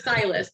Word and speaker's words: Tshlas: It's Tshlas. The T is silent.